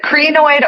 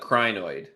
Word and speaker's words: crinoid: remember how it's pronounced is it creanoid or crinoid fossils I I've always been toyed it's it's a crinoid okay so that that was what started I find it so funny on all the minerals and everything everyone pronounces it differently they totally do they